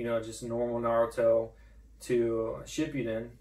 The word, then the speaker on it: Shippuden: went from, you know, just normal Naruto to Shippuden, right? Did I pronounce that right? Yeah, Shippuden.